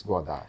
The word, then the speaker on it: Godard: In English, we are called him Godard. Godard. Yeah, in Tamil Nadu also they call Godard, but the French pronunciation is Godard.